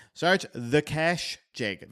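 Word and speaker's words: Kesh: Search the cash jig. The cash is spelled ke, right?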